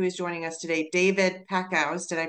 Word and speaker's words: Packouz: incredible inventor who is joining us today David Paco did I pronounce it correctly you did good job yes